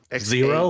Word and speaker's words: Xaero: Zero, like the word.